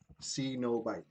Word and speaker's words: cenobite: guess according to the I actually checked two different pronunciation YouTubes see no bite yeah that's what I'm